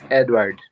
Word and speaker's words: Eduard: a question I've I've always wanted is it eduard or Edward how are we pronouncing it exactly oh he's Edward you know Edward Edward yeah okay edoard Edward